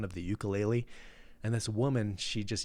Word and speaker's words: ukulele: innocent sound of the ukulele and this woman she just yells out from the crowd it's pronounced ooku laylee and i just kind